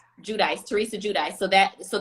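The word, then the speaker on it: Giudice: um how do you say theresa's last name judice judice theresa judy so that so the teaser has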